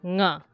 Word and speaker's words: nga: it's not ga, it's nga. Okay? It's a bit hard. It's like, if you're not used to that sound, it's a little like complicated, but that is basically its own sound.